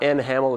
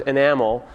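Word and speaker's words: NHaml: It's not enhamel, it's pronounced enamel, because you have to be really hip and cool when you come up with names like this.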